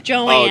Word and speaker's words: Joan: It's spelled Joan, but Yeah. it's Joanne. Oh, Joanne. Yeah, Joanne.